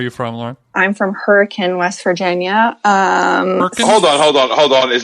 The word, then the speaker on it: Hurricane: So you are confirming that you're saying the word hurricane. Hurricane, yes. Like the weather. pattern.